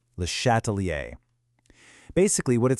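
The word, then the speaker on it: Le Chatelier: It's pronounced lattalier. Lehatalier.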